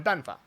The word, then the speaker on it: 办法: principle here is that this character should be pronounced 办法, right? So like fourth tone, third tone, but they're just kind of going 办法, and it's not really a full third tone.